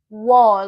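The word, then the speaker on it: 워: So if you join a W sound and an O sound, it should give you war, like you're pronouncing war in English, like a country went to war. War, war.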